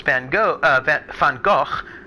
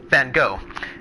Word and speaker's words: Van Gogh: not know this, but Americans pronounce Van Gogh, Van Gogh. And my German friends are all scandalized by this, because they're like, that is not how you pronounce his name.